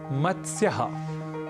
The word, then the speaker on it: मत्स्य: साथ करना होता है अक्सर हमें शब्द का गलत उच्चारण कर बैठते हैं और कहते हैं मतस्य मतस्य पालन इस तरीके से कुछ हम शब्द करते हैं मतस्य केंद्र इस तरीके से कई अशुद्ध उच्चारण हम कर बैठते हैं क्योंकि त स और य यह तीनों ही व्यंजन वर्ण है और इनके मध्य कहीं भी अ या स्वर वर्ण नहीं है इसलिए मतस्य कहना तो अशुद्ध है हमें इसका उच्चारण करना चाहिए मत्स्य और संस्कृत में मत्स्य